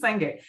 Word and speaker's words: Senge: If I pronounced that incorrectly, listeners, please write us, correct us, but we think it's Senge.